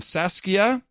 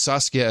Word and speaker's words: Saskia: my girls Elise and Saskia John you pronounce Saskia as Saskia Saskia last time which upset her she was five back then now seven get Adam to pronounce this Dutch name Saskia Saskia Saskia I hope